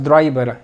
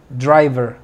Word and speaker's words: driver: cook cocinero driver driver con v no digas driver es driver driver meta mi meta metro